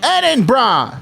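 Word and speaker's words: Edinburgh: So, you shout over to him, "Eden brah." Edin bra. You can now pronounce Edin bra correctly.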